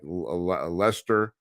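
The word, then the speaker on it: Leicester: you know English spelling you know like like leester uh the suburb of uh of of London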